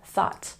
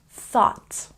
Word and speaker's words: thought: thg no no no g h is silent so we say thought and again remember with the th sound improve your pronunciation put your tongue between your teeth thought and this one night